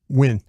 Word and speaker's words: Nguyen: There's no N. It is Dat Nguyen. It's not. Yeah. It's just Nguyen. Dat Nguyen. You're going with Dat Nguyen? Yeah. I think you're the only person I've heard say it like that, though. I don't know. I don't think you say the N. Brian? Win. Win? Yeah, Dat Nguyen. You got to eat the N.